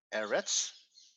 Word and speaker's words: eretz: on the last syllable when we have a word like eretz the stress is on the first syllable syllable marker so you